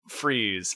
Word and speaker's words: Fries: Dr. Victor Freeze, but it is spelled Fries.